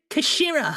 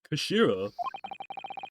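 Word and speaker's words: 頭: It's written as head in Japanese, but it's pronounced as Kashira, I believe. Kashira.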